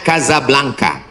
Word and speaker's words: Casablanca: Hasan 2 di Kota Kazablanca. Ibu kota Maroko. Tempat saya kuliah. Nama negaranya Maroko. Ibu kotanya tulisannya Casablanca. Cara bacanya Kazablanka. Kaza artinya rumah. Blanka artinya putih.